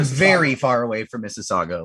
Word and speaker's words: Mississauga: TJ, are you aware of Mississauga? Oh wait, hold on. Did I mispronounce that? Oh geez, I mispronounced it. No, you got it right. Mississauga, Ontario.